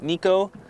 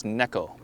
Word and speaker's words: Neko: Some of you may have heard it as Neko, but it is a Japanese technique named after a cat. And in Japan, the word for cat is Neko.